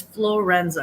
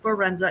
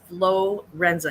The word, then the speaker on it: Florenza: them for free um so it's florenza it's not fenza it's florenza it's f l o